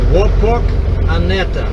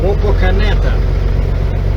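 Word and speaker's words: Wapakoneta: I know you know it's spelled w a p o k a n e t a now how do you say this and she said she said WETA I said wait wait wait wait say this again only slow is Wok aneta so Wok aneta I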